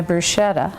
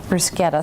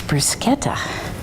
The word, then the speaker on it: bruschetta: gonna start on my bruschetta bruschetta sorry that's a proper way to say it there was a is the American version of bruschetta for a long time but someone recently said now it's bruschetta so so basically almost